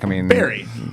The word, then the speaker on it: bury: Bury. Do you say bury? Hey, it's spelt bury. It is, but it's bury. Like you buried someone, you got buried.